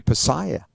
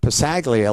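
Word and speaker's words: Passaglia: pronunciation of your name he keeps calling you louis pasaya not possaglia like all the rest of us and and he's realized that i wasn't recording the conversation at all and ha and he says well you know halsey's right but i never want to tell him that and my mom would be very proud that he calls that g is silent like in lasagna he said but once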